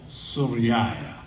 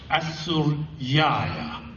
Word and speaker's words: Suryaya: In other words, we don't pronounce it. We just say Suraya or Suryaya. But if we didn't silence the letter, we would be saying Asuraya or Asuryaya.